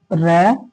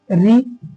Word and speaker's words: ऋ: हैं उच्चारण देखो इसका इसका उच्चारण मिलकर बना होता है र जमा ई र जमा ई और जब हमने एक साथ मिलाया तो उच्चारण धनि क्या आती है ऋ क्या आती है री तो ये एक तरफ